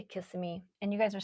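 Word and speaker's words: Kissimmee: It's pronounced kiss me from what I was taught. Kasami. Whatever. I say kissing me and you guys are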